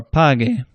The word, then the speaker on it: pague: If you add a U right after the G, then it can make a soft G into a hard G, but the U is silent. So ge or gi. That U doesn't make a sound, but it makes it so that G is a hard sound, as in guitarra or pague.